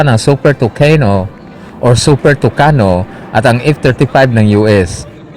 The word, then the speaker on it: Tucano: di lalong wala ang super tucano sa Spanish pronunciation pero super tokino sa English pronunciation at sa bisayan pronunciation naman ay super tuka ay ini-endorso ito ni